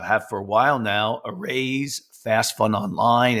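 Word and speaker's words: Araize: we have uh have for a while now arrays fast fun online it's spelled a r a i Ze that it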